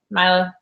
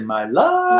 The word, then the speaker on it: Mila: Milo. Done. Milo or Mila? Mila. She spelled it out. It's actually Mila.